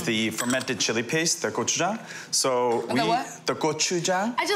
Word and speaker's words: gochujang: fermented chili paste, the gochujang. So the what? The gochujang. I just love the way you say it because I've been saying it wrong so long.